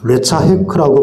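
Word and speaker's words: לצחק: 히브리어로 이 놀리다라는 단어는 레차헤크라고 발음하는데 이는 단순히 장난처럼 놀리는 것이 아니라 악의적으로 상대방에게 수치심이나 두려움을 주는 어떤 행위를 가리키는 거예요.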